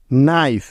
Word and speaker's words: knife: এন এর আগে কে থাকলে ওই কেটা সাইলেন্ট বা উজ্জ্ব হয়ে যাবে। যেমন নো, KNOW, নো। নাইফ, KNIFE, নাইফ।